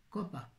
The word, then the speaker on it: copa: Copa. On dit cope en Corse. On ne prononce jamais la dernière voyelle des noms.